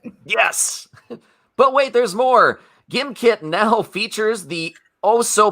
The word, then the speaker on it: Gimkit: product just for you i believe it's pronounced gym kit no it's gimkit i can't tell you